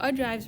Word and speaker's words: ogives: Ogives, or is how they pronounce it, ogives, right?